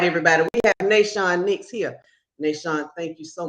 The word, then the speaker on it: Nahshon Nicks: My name is pronounced Nahshon Nicks.